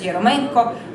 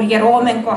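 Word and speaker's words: Eremenko: We have the two brothers Yeromenko, or Yeromenko, how it's pronounced. Sometimes it's pronounced in Finnish way, some more Russian way.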